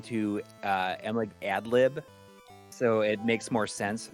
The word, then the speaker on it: Adlib: It's silly, but no, it's Adlib is fun to say. I think that it rhymes with MLiG, sort of.